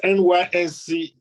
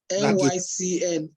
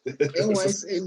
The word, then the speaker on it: NYCN: It's NYSCN. NYCN. Yeah. NYCN. There is no. You just said S. Now there is no S.